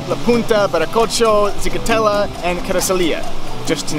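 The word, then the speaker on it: Carrizalillo: right behind me here called Carasalia, or as many people call it, Quesadilla, because they just can't pronounce Carasalia.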